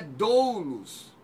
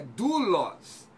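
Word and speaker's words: δοῦλος: Não é doulos, é dulos. É um ditongo, ômicron, iota.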